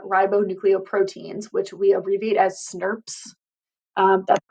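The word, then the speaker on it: snRNPs: called small nuclear ribonucleoproteins which we abbreviate as snurps that's how you pronounce it here it is um in class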